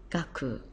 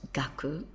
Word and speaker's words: 学: gives us the character for Learning and it's pronounced gaku so we take the character there which is pronounced gaku and means learning there it is here and